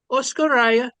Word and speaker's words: Oskoreia: translation of oscara okay hey oscara you pronounce it properly you got it he' been working on